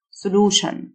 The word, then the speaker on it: solution: Significant حل solution. TION تنطق شن.